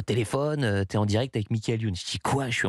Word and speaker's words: Michael Youn: Tu le prononces à l'américaine, toi. Michael Youn. Michael Youn, ouais, c'est moins classe.